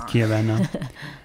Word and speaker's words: Chiavenna: But it's Chiavenna.